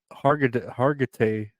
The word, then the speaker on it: Hargitay: Oh my god, I can never say her name. Hargitay.